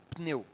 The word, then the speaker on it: pneu: Pneu. Esse P e o N não tem uma vogal no meio. Mas, na língua portuguesa, a gente tem dificuldade de juntar consoantes e pronunciar.